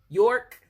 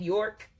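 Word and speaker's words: Björk: okay destiny okay and this is York that's how you say it York okay bjork bjork okay queen of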